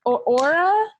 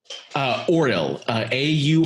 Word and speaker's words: Auril: Aura? Auril, Auril.